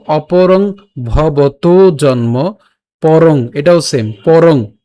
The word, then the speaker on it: ভবতো: উচ্চারণটা হচ্ছে অর্জুন উবাচ, এরপর অপরং, অপরং ভবতো, ভবতো এখানে উকার আছে, এজন্য আমরা ভবত উচ্চারণ করিনি, আমরা উচ্চারণ করেছি কেমন, ভবতো।